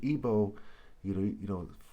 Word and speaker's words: Igbo: Okay, and Igbo, for example, with a bow and arrow, he spelled B-O-W. Igbo's I-G-B-O, or the G is silent.